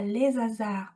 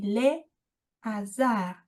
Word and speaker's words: hasards: On ne dit pas les hasards, on dit les hasards.